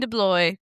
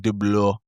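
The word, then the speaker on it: DeBlois: Dean Deloy. 55 years old. That's like the American way of saying it. Yeah. Delis, but the actual like pronunciation of it is like dlo.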